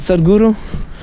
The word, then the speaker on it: Sadhguru: smart very smart man it's spelled like sad s-a-d h and then g-u-r-u right sadhguru uh well you gonna say